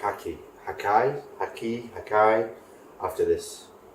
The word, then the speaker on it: Hakkai: gonna really like haki hakai haki hakai after this as you would say hakkai because it's spelled more like hakai I like how Maggie's